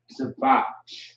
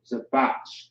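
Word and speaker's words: זבח: Zabach. So Zabach is how you pronounce it.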